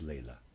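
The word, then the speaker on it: Laila: and Lea readers aside I'm pronouncing l a i l a as Lea and the readers aside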